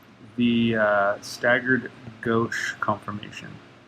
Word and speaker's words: gauche: here and remember this is called the staggered gauche conformation g-a-u-c-h-e okay i know that's weird but hopefully you